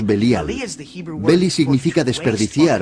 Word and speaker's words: Belial: Beli Yaal, que nosotros pronunciamos Belial.